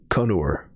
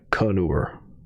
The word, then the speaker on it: Kannur: Kannur. So emphasis on the first syllable. And then, yeah, Kannur.